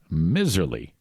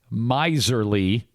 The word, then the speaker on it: miserly: one Miss Deb but it's pronounced with a long I a long I sound rhymes with visor and of course the word miserly means to act like